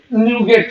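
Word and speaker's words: NuGet: manage न्यू गेट package बहुत सारे लोग इसको नगेट भी बोलते है इसके लिए माइक्रोसॉफ्ट लेना उसका उसको स्पेलिंग अलग कर दिया जी को कैपिटल कर दिया आप तो नगेट मत बोलना ऐसा तो न्यू गेट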